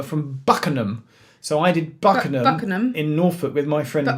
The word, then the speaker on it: Buckenham: So I did Buckenham in Norfolk with my friend Will. Buckenham. Has it said? Buckenham. What did I say? Buckingham. Buckingham. You were pronouncing every syllable.